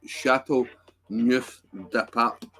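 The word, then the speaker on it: Châteauneuf-du-Pape: Chateau Neuf de Pape.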